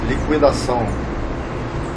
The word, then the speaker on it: liquidação: O trema eram aqueles dois pontinhos que ficavam em cima do U para dar uma outra pronúncia à palavra. Por exemplo, consequência. Se não tinha trema, a gente falava consequência. Liquidação. Quando não tinha trema, leia-se liquidação.